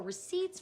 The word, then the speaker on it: receipt: to this word here you notice that there is no P sound in receipt the p is silent